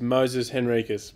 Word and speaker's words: Moises Henriques: us uh I think I'm pretty sure it's Moses henriquez but uh I've heard of so many variations now that I'm fairly confused as well we probably keep being pronounced the wrong way anyway but um there